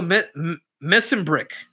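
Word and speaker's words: Mesenbrink: You know, Mitchell Missenbrick. Am I pronouncing it right, Adolf?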